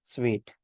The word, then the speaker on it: Suite: it should not be pronounced as soon but it should be pronounced as sweet it is nothing but